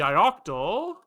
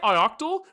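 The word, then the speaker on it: ioctl: In your mind, how do you say octal? I say ioctal, but it's IO control, right?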